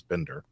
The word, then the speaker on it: Binder: pronounce it right because at first I see binder blink no I think it's Bender right yeah you got it right uh but uh I